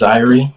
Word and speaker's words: Zhyrie: So your name's Zhyrie, correct? Yeah, it's pronounced Zhyrie, like Zhyrie.